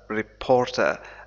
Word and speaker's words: reporter: Of what happened, happened, وقع, happened to the Saudi reporter, reporter. هذه هذا R ينطق في الإنجليزية الأمريكية لكن لا ينطق في البريطانية، نقول في اللغة الإنجليزية البريطانية reporter, reporter الأمريكية reporter, reporter مراسل صحفي reporter.